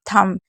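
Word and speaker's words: thumb: क्योंकि एम और बी अगर साथ में होता है तो बी को नहीं पढ़ा जाता है। इसलिए हम इसे क्या पढ़ रहे हैं? थंब यानी कि अंगूठा।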